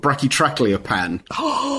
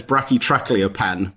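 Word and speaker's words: Brachytrachelopan: And he told me that he designed that name so that you can only really say it properly if you can do the vowel sounds of all three languages. So the idea being it was basically only him who could say it right.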